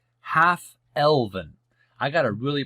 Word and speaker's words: half-elven: Millennia old, Elrond, half-11, is the son of Arendelle, the Mariner. Hope I pronounced that correctly.